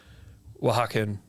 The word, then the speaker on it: Oaxacan: Oaxaca. So it's like Oaxacan. That's how you say it.